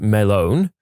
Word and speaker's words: Melon: Named him Walter Melon, pronounced Melone, snuck the watermelon into the bar and generally just passed it around and praised him for being a good melon.